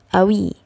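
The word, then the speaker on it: قوي: Allah enake safeway Nah di sini tulisannya Kowi tapi kalau Ami Ya kok itu dibaca Hamzah Awi Jadi dibacanya Awi seperti itu Ana Asyifa Wi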